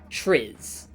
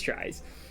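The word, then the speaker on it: Tris: T r i s. And I did not my incredible brain of intellect decided that that was going to be pronounced tis. And I did get made fun of in a a modeling uh like a model Discord VC for that. It was extremely funny. Uh no, it is tries.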